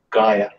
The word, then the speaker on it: Gaia: edging is right on the pronunciation of Gaia it's Gaia hello I still think mine's definitely gay right Jono what you making